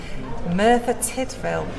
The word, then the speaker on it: Merthyr Tydfil: Myrta Tideville, Not quite. Merthyr Tideville, Nearly. You've got the first half right. There. Tideful? Merthyr Tydfil. Tidfil. So that's Merthyr Tydfil.